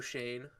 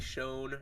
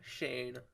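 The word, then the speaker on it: Schoen: for context says s-c-h-o-e-n i thought it was like shown or something showin it's shane so joe shane right now our our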